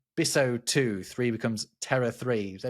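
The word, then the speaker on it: bissotwo: Two becomes biso 2.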